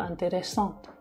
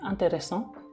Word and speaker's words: intéressant: Nah, keempat kalimat itu ya kalau misalnya yang feminin itu lebih ada intéressant. Kayak ada letukan di akhir itu intéressant. Kalau misalnya yang maskulin itu lebih intéressant, biasa aja dibacanya. Karena nggak ada e di belakangnya.